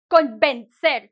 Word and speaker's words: convencer: So, for example, por ejemplo, cuando hay una N, like convencer, convince you, the N before the V makes you soften the next sound. So you cannot go from con to b, convencer, right?